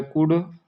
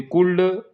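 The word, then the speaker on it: could: ही के बाद फिर यह लिखा हुआ है कुड। इसको कुड पढ़ा जाता है। यहां पर एल साइलेंट होता है। अच्छा ये कुल्ड दिख रहा है लेकिन पढ़ा जाएगा क्या? कुड।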